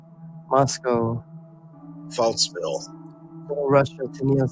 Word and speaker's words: Moscow: Rhymes with Glasgow. That was like, is anybody gonna type it? Like, what the heck? Okay, let's see. False. It's called false. Toy Town, Jane says. Moscow.